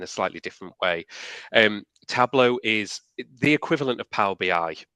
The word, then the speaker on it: Tableau: Uh, what are Salesforce uh, table, is it pronounced table or tableau?